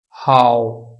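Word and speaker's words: hǎo: अब यहां पे देखिए एच जो है हे की आवाज बोल रहा है, वो इसलिए कि एच के आगे ए आ गया है, और ए की प्रोनाउंसिएशन, ए का जो साउंड था वो था आ। क्या साउंड था? आ। तो इसलिए इसको पढ़ा जाएगा हाउ। चूंकि ए के ऊपर थर्ड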